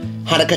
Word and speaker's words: Hanukkah: Hanukkah, Chanukkah, Hanukkah, Chanukkah, Hanukkah, Chanukkah, Hanukkah, Chanukkah. That was a little song we made up with the 2 different pronunciations of this holiday's name.